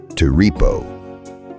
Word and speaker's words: ti-ri-po: The word was Teripo, 3 syllables, and the moment he remembered a line of Homer, everything became clear.